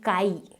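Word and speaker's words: χ: तो आप इस सिंबल को देख रहे हो काई, इसे हम कहते हैं काई, that's how we pronounce it.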